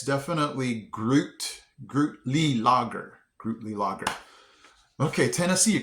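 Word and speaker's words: Gruetli-Laager: Grudy Lager. Wait, Grootly Lager. Groot. Okay, so yeah, it's definitely Grootly Lager.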